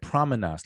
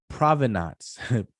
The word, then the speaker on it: provenance: pronouncing that excuse me i said promenas like like promenas i'm sorry provenance with a v like provenance sorry about that uh